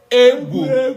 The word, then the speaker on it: egwuregwu: The G alone is gu. When it has the W, it becomes gui.